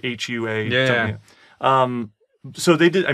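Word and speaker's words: Huawei: they did it with I always say it wrong Hawa thei is it huwei you don't pronounce the age I don't think so um the phones the chin the Chinese the Chinese manufacturer right it's like Hua um so they did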